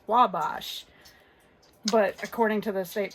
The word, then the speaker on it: Wabash: on here on indiana.gov it says simply say wabash because it's from a french native word and on here